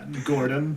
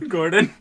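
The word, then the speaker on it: Gourgon: name is spelled g-o-u-r-g-o-n Gordon Gordon yeah like Gord I'm asking you nicely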